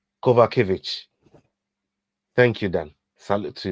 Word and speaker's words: Kowalkiewicz: Kowalkiewicz. Did I say that right? Kowalkiewicz.